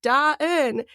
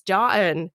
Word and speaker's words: Da Eun: And I would be Da-in, right? And then at some point I'm like, okay, so it's dawn, but you break it into two syllables. So it's Da-in, right?